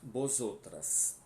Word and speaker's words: vosotras: Vosotros, vosotras estáis. Tá? Vosotros, vosotras estás. Sempre lembrando, né, que o V tem som de B, por isso que eu estou pronunciando vosotros, vosotras, e o S com som de dois S, né?